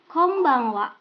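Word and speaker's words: こんばんは: cara mengucapkan kata ini apakah dibaca konbanwa atau Kong banghwa atau Kombang Wa jawaban yang benar adalah Kombang Wa nah ini diucapkan setelah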